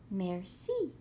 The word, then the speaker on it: merci: is fancy for interesting merci thank you in French you say it like this merci miserable is a fancy